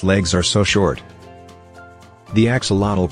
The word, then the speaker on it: axolotl: four of its legs are so short the Axolotl pronounced Axolotl a rare salamander from Mexico can regrow lost